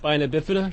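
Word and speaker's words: spina bifida: people don't know what that is uh it's pronounced spinabifida the reason I said that is because I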